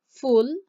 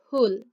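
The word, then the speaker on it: ফুল: flower which is pool a lot of people will say fool let them say it you can say it too but the correct pronunciation is pool ba-ba-ba-ba notice the h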